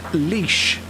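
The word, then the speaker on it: Laois: says how do you pronounce leash so it's pronounced leash how do you do leash i suppose like that leash yeah yeah oh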